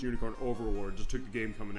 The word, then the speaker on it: Unicorn Overlord: We joked saying it was Unicorn Overload. Was like, "No, it's Unicorn Overlord."